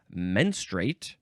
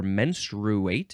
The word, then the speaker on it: menstruate: think uh number eight the synonym is menstrate or menstruate if you want to add an extra syllable for some reason menstruate the flow yeah